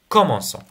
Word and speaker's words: commençons: e r par exemple commencer avec nous nous commençons on ajoute le C cdil pour la prononciation comme comme l'exception j'ai d'accord alors les